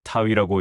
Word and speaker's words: 타위: 그 밑에 작대기가 하나 있는데 타라고 발음을 하고 땅을 의미한다. 근데 이건 두 개이다. 쌍수형 어미인데 쌍수형 어미가 위이고 그렇기 때문에이 부분은 타와 위가 합쳐져서 타위라고 읽는다. 타타가 아니라 타위라고 읽어야 한다.